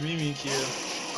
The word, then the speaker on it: Mimikyu: That's how you say it, Mimikyu.